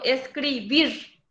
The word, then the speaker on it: escribir: la misma cosa escribir yo digo escribir cargo la voz en la última sílaba pero no lleva acento